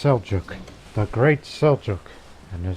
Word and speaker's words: Seljuq: instead they're the great soy yogurt for them it's pronounced seljuq the great seljuq and